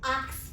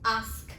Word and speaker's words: ask: so yeah this one most of the people say it acts but that is not the thing to be said it's ask so guys here's the